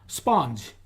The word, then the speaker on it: sponge: 그렇지만 우리는 straight 5음절로 발음합니다. 다음 단어는요. sponge.